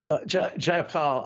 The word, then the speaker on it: Jayapal: And it really centered originally and earlier in the week when Congressional Progressive Caucus Representative Pramila Jayapal. I always get her name wrong. Ken, say that. Jayapal.